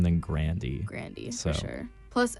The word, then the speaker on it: Grande: Apparently, her name is not pronounced Grande. It's Grandy.